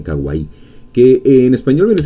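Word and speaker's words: かわいい: Los japoneses lo pronuncian kawaii, que en español viene a ser algo chulo, algo bonito, tierno.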